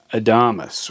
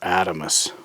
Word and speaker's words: Adamas: look at Benchmade's Mini Adamas, or Adamas. I'm not sure how you say it. It's like Adam with an S at the end. Now this is a heavy-duty small folder, and it's created a little controversy.